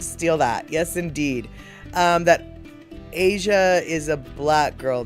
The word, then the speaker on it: Aja: And so, it's pronounced Asia. Okay. Aja. Asia.